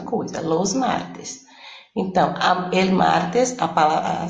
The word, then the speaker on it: martes: Então, el martes, a sílaba tônica, desculpa, a sílaba tônica é mar, né?